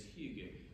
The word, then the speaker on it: hygge: the trouble is that it's a Danish and a Norwegian term so pronunciation can differ between the two but the closest I've come to saying it is hugu which is a term